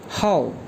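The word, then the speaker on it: 号: और डेट को चाइनीज़ में कहा जाता है HAO फोर टोन के साथ, ये प्रोनाउंस करेंगे हाउ, हाउ, हाउ।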